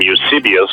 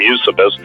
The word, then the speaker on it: Eusebius: you'll love this, Eusebius, some people pronounce him Eusebius, but I just call him Eusebius.